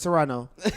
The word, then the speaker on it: Toronto: going go back to Toronto and I'mma kick my feet you don't say the second T Gio I said Toronto